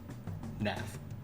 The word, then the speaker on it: Nath: You pronounce it like that. Nath. Like math, but with an N.